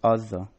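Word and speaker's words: עזה: Arabic simply retained these two sounds completely, thus razza is still pronounced razza. Transcribed into European languages as a g, Gaza, while modern Hebrew speakers refer to the city as Azza.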